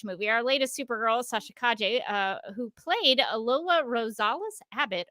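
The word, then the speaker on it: Calle: But speaking of the Flash movie, our latest Supergirl, Sasha Kaje, I almost read my script, reminding myself to pronounce it Kaje.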